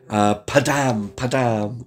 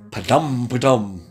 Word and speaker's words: Padam Padam: Padam Padam, or even Padam Padam. Think of someone telling a bad joke. Padam. It's Kylie. Padam Padam.